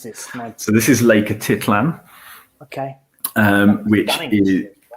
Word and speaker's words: Atitlán: And thereafter on to, how do we pronounce this? So this is Lake Atitlán.